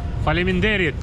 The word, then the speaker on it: faleminderit: Faleminderit.